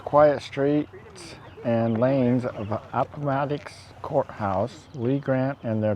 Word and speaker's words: Appomattox: We are at the Appomattox, did I say it right?